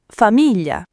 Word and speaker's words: famiglia: Famiglia con la G dolce. Famiglia.